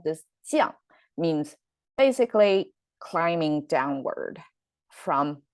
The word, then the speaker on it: 降: Last time it's 将, right? 机一昂将. But this time it's 降. Both the tone and the pronunciation changed. Same writing though, and the meaning changed too.